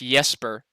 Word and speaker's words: Jesper: I think it's actually pronounced Jesper, according to our friend Will.